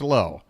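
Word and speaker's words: Lowe: right here we go la or low at the plate I went ahead and got it wrong myself Brandon L I did it again Josh low not Brandon Lao Josh low fouls one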